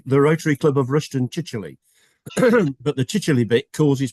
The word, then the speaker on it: Chichele: been in chronological order, it's spelt with a Y on the end of it. And if only he'd got a Y on the end of it, nobody would ever have a problem pronouncing it.